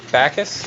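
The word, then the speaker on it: Backus: How do you say your last name? Bacchus? Okay. It's kind of like That's what I was thinking. Jim Bacchus, like Yeah. the actor or whatever.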